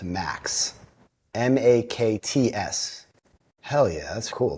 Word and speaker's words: MAKTS: It's basically pronounced, the acronym is pronounced MAKS.